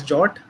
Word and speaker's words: JWT: what jwt is or it's pronounced as jot as mentioned in the specs so we'll be talking